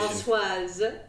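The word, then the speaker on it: Françoise: Give me the French pronunciation. Francoise.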